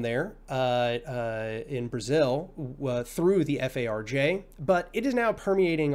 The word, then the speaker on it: FARJ: So, a little background on Especifismo is that it comes from a Brazilian group, which I pronounce FARJ, F-A-R-J.